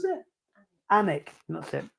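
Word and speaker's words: Alnwick: chipchase bambra or onck onic how do you pronounce it anik that's it anik uh my daughter did like Harry Potter at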